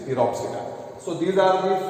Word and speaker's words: Pteropsida: Here P is silent. So it is Pteropsida.